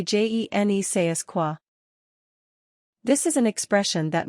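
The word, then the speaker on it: je ne sais quoi: Pronounce it juh-nuh-say-kwa, and imitate a French accent if possible.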